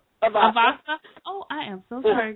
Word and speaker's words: Avasa: Avasa.